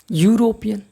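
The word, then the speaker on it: European: क्योंकि इसका हिंदी जो उच्चारण है य से स्टार्ट होता है। आप जानते ही हो। यूरोपियन।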